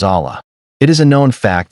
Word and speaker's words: Allah: The word Allah is made up of two syllables. Al and Ilah. Al means the and Ilah means god. When these two syllables, which are the two units of the pronunciations, are combined, the letter I becomes silent and Alilah becomes Allah.